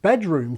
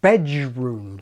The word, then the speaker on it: bedroom: So we have a majority of the youngest speakers saying that bedroom contains not d, but j, bedroom, like Adrian.